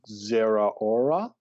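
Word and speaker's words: Zeraora: the distribution codes for the kirk mythical pokemon zera aura that's how you pronounce that look at you guys go yeah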